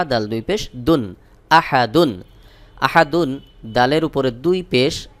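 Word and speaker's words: أحد: দাল দুই পেশ দুন আহাদুন আহাদুন দালের উপরে দুই পেশ তানভীন এরপরে আর কোন হরফ নাই এখানে ওয়াকফ করবো তাহলে উচ্চারণ হবে আহাদ দুই পেশ সাকিন হয়ে যাবে সহি উচ্চারণ হলো ওয়ালাম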